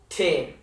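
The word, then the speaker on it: तीन: Teen. Like teenager.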